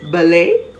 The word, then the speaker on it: ballet: word is bourgeois b-o-u-r-g-e-o-i-s t is generally silent when it's pronounced in some words of french origin such as ballet b-a-l-l-e-t buffet b-u-f-e-t gourmet g-o-u-r-m-e-t t is generally silent when found